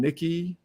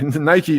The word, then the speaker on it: Nike: guest welcome richard urschick veteran army sergeant and nikki sorry nike missile volunteer you know i've been getting that